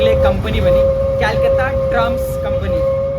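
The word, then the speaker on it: Calcutta: हो रही है वो कोलकाता का स्टेट गवर्नमेंट ऑपरेट कर रही है कोलकाता नहीं पहले पहले य कोलकाता को कोलकाता नहीं कलकाता कहा जाता था जिसको सी से प्रोनाउंस किया जाता है फिर आया वो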